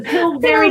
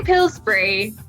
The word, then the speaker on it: Pillsbury: The Pillsbury Doughboy. Yeah. And I would say Pillsbury, but this one's actually an American company, isn't it? So I might just be wrong.